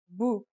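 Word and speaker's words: بُ: It changes the pronunciation to bu.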